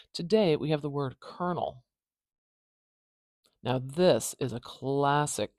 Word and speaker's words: colonel: we have the word kernel now this is a classic case of weird English spelling that does not translate we do not say colonell as you might expect kernel kernel this is a rank